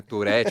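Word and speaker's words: Tourette: Eh, você ainda falando, assim, eu falei a síndrome na versão mais portuguesa, né? Turet, você ainda falou no mais francês, Tour? Eh, não sei, acho que eu tô com a pronúncia errada aqui. Vou me corrigir então. Tur tem, não tem, tá? Não tem errado e certo das duas formas.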